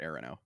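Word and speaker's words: E'ronoh: I have the authors pronounce it areno.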